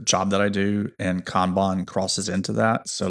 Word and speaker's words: Kanban: It's a Japanese word and in in Japan um words are only pronounced one way, unlike other languages like English.